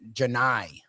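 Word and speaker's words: Johni: Uh that this is it Jonai. Is that how you pronounce it? They It looks like a weird way to spell Johnny, but they kept calling him Janai.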